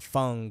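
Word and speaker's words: Feng: game on and my Fang or fun that's her that's how you really say her name she has in her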